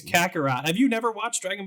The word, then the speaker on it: Kakarot: Dragon Ball Z Kakarot or Kakarot, I hope I'm pronouncing that correctly, will be... It's Kakarot.